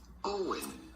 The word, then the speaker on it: Eoin: Not like it's spelled, but simply Owen.